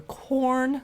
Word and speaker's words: Quorn: And a lot of it, you really don't know if you're going to prefer corn, which is spelled Quorn.